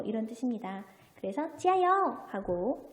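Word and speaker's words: 加油: 얘는 뭐죠? 찌야, YOU인데, 자, YOU에서 이 Y는 뭐죠? I의 소리를 내니까 이요우가 되겠네요. 소리 내봅시다. 加油, 加油, 加油.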